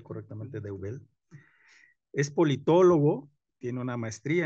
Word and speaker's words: Deubel: André Noël Roth de Deubel, se pronuncia correctamente Deubel, es politólogo, tiene una maestría en ciencia política